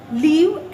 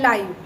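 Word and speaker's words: live: नाउ लिव एंड लाइव, लाइव adjective है एंड लिव verb है। लाइक आई लिव in small family, pronounce difference होता है। आई लिव in small family verb में and this is लाइव telecast, pronounce difference है because एक verb है एंड दूसरा है एडजेक्टिव।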